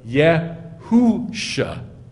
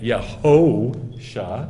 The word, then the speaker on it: Yehoshua: Because they don't know that it's got the O on top, making it Yeh-ho-sha, not Yeh-hu-sha. And they don't know what a kamatz is. They don't know what a kibbutz is with the O sound. And so they read that as Yeh-hu-sha.